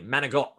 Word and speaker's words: manicotti: Manicotti. That is correct for 4 points. If I was pronouncing that from Jersey, manigot.